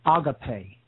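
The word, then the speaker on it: ἀγάπη: law love capital w in Greek this is agape Alpha Gamma Alpha Pi ETA agape and uh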